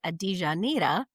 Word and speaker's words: Adijanira: So my full name is actually Adijanira, which is like Rio de Janeiro, but I just go by for ease of getting it out on 2 syllables.